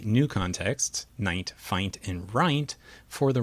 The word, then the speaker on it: fint: non-words, in this case F-I-N-T, and we train the model to pronounce it as fint, as if it were a real word.